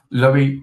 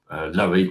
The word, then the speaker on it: Lowie: Um, Lowie is pronounced like Zoe because it stands for low impact on the environment.